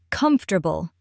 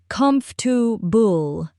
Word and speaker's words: comfortable: For example, words like really, because, or comfortable. Let's take comfortable as an example. Many learners try to pronounce every syllable, but in natural English, it often sounds like combable.